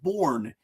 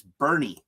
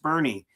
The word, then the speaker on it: Bourne: It's Bernie. It's pronounced Bernie." As a Yankee fan, that was easy to remember because I just thought about Bernie Williams.